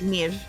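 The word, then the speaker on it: Niamh: Joe, please pronounce Niami like Nivi. Niame? Nive? It's like Neve.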